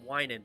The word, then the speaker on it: Wynand: But yeah, my last name is Wynand, so it's like wine and cheese. So whining like a baby. like a baby. My last name literally means crying in German. That's funny. How it's spelled is like.